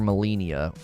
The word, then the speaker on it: Malenia: millennia right i mean i looked up how to say her name that's what everybody voted on reddit that you're supposed to call her molinia i think a lot of people call her you know melania or whatever but i think molina